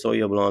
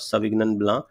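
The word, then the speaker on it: Sauvignon Blanc: or wellknown graay variety soyo Blan so the pronunciation is soy Blan not San BL so so BL BL um it is a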